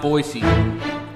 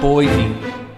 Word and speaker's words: Boise: it's pronounced boise not boise there's no z dog i'm from idaho